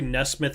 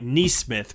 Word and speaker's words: Nesmith: Honestly, Nesmith I do think is a good fit.